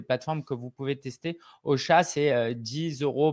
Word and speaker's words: Ausha: Et puis, en termes d'outils, aujourd'hui, j'utilise pour mon propre podcast Ocha. Ça s'écrit AUSHA.